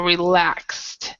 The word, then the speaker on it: relaxed: relapsed relaxed so so this one would be more of a t sound but remember the e is silent so relaxed okay uh so alejandro